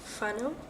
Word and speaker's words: whānau: One thing that I keep doing when I pronounce Maori words is I keep forgetting that WH is pronounced F. Like whānau, I believe, like for family.